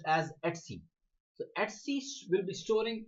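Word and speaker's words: /etc: start the machine let's see people call it EDC it's actually pronounced as XC the axis will be storing all your configuration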